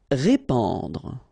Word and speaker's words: répandre: Répandre. Okay, so here you get this A-N combination, so the sound is en.